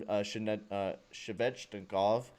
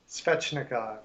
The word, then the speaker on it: Svechnikov: Another big hit there from Shevchnikov. Always say his name wrong.